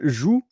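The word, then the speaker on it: joug: the zu but here zu it's the g s the yeah the the the g silent so it's j o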